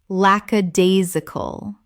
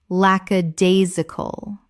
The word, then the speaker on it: lackadaisical: lackadaisical Common mispronunciation. lackadaisical Correct pronunciation. lackadaisical Five syllables with the stress on the third, meaning lacking enthusiasm.